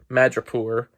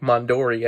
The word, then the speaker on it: Madripoor: Um, yeah, I got that name wrong for the last episode. Madripoor. I was saying like Mondori.